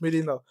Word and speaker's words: Melena: Donc du coup, c'est Melena, ça Mélena, ça se prononce Mélena.